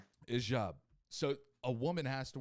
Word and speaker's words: hijab: a job or job it's spelled h-i-j-a-a-b i believe hijab and the j makes a drop sound so hijab like like sobs like you know like